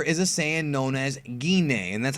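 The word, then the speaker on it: Gine: slide Goku's mother is a saian known as gin and that's how you pronounce her name by the way that is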